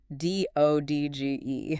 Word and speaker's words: dodge: The classic example given is the word dodge. D O D G E. Right. You don't say that middle D at all. It's just dodge.